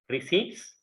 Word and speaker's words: receipts: P is silent. You should not pronounce receipts.